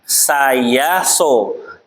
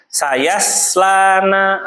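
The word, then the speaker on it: ṣ (ص): Khairil magho satu lagi sayaflana sayaso sayflana enggak boleh bacanya sayaslana atau sayoslana bacanya apa saya so saya tuh kayak gitu bukan sayas tapi Ayas.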